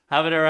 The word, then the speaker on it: habanero: origin, but mispronounce using the language of origin's pronunciations just falsely. I think that's what a hyperforeignism is. Anyway, so habanero habanero, let's have the sound play for everybody watching.